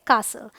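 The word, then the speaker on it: castle: Rule number 2 कहता है अगर टी के बाद एल आए तो टी साइलेंट होता है। तो देखिए टी के बाद एल, सो टी एल ई जब होगा तो टी साइलेंट होगा। ये है अपोसल, एपोसल रादर, ये है ब्रिसल, ये है बसल, देखिए STLE, ये है कासल।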